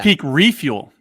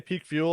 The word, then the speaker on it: Peak Refuel: up doc and Sally I always say Peak fuel on the podcast and Carl's always like Ben you got to say it right it's refuel so you're not alone it's